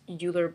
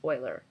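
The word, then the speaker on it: Euler: It looks like it's uler, but I've been told it's pronounced Oiler.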